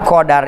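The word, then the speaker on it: قدر: Wal qadaru bil fathi, lapad qadar itu bil fathi, dengan patah. Patah itu jar, jabar. La ghairu, tidak kecuali dengan apa? Patah. Tidak selain patah. Jadi bacanya apa? Qadaru, qadar.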